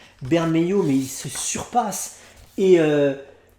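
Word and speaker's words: Bermejo: que sur batman damned je vais me prononcer à la française ben may you mais il se surpasse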